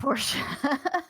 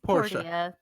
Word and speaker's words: Portia: on here comet no it's not Porsche it's Portia there's there's some poor